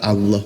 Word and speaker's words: Allah: itu enggak gitu karena di situ ada tafhim namanya tebal pelfalannya diajakan maka Allah gitu kan Nah huruf Arab itu engak kenal huruf o makanya di situ penulisannya a tetapi dibacanya tebal Allah makanya diajarkan cara melafalkannya begitu masah kalau kamu mau